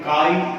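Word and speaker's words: χ: इसे symbolic form में काई ए से रिप्रेजेंट किया गया है। कैपिटल एक्स के जैसा ये दिखता है, लेकिन इनका प्रोनाउंसिएशन काई होता है, किया है।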